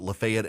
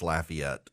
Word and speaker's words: Lafayette: in Lafayette Louisiana um those of you in Georgia who pronounce it Lafayette and I realized I got an affiliate in Lafayette um it's Lafayette um I I just I